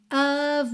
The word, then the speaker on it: of: Então, the look of love. Muita atenção nesse parzinho aqui, por of tem som de v, certo?